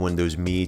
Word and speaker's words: Windows Me: releases set up screen and yes Microsoft and for the Emmy and Windows me to be pronounced just like the word me as evident in their advertising